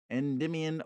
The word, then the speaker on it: Endymion: Endymion, Book 2 by John Keats.